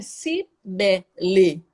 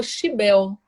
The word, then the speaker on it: Cibele: E aí eles pronunciam o C como che, chi, e eles não falam a última vogal. Geralmente eles engolem a Uhum. última vogal. Então, para muitas pessoas, meu nome ficou Chibel, Ah, Chibel. por causa da pronúncia que eles falam, Sim, né?